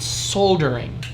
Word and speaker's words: solder: how to solder but he called it soul during and I don't know why that L is silent here but I like it's